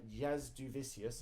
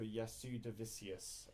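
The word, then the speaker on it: Jasudavicius: others uh Jasmine uh Jazz duvicius I did a terrible job pronouncing her name on the picture dude I think I was going for yasu davisius every single time even though I've heard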